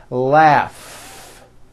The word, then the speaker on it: laugh: strong r freedom laugh notice the gh combination in that word laugh telephone notice the ph